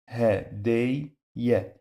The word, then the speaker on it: هدية: and the second time we pronounce it with fatha, okay? Fatha because we have fatha here. And the first time is sukoon. So that's why we say هدي. Yeah, هدية.